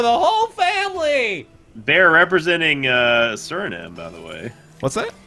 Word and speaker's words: Suriname: Baer representing Suriname, by the way.